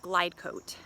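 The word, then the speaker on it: Glidecote: go ahead and try a dry lubricant called glidecoat glidecoat it's spelled g-l-i-d-e g-l-i-d-e-c-o-t-e it's something that the powers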